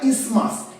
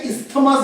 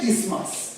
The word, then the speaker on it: isthmus: এটাকে বলা হয় ইসমাস। এটার স্পেলিংটা হচ্ছে ISTHMUS, কিন্তু আমরা এটাকে ইসথমাস বলবো না, প্রপার প্রনাউন্সিয়েশন হচ্ছে ইসমাস। ঠিক আছে, ISTHMUS, উচ্চারণটা কি হবে? ইসমাস।